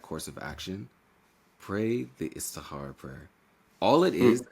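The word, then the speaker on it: Istikhara: But can I before that, can I just make one comment about the Istihara prayer?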